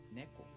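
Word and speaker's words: 猫: one yeah that's fine for example neko this shows the accent is on the first syllable and then the pitch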